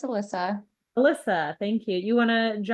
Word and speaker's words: Alissa: I hope, is it Elisa or Alyssa? I'm sorry if I'm mispronouncing your name. No, it's no problem. It's Alyssa.